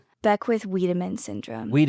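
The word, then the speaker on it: Wiedemann: Is that how you pronounce Weidman? Beck with Weedman syndrome.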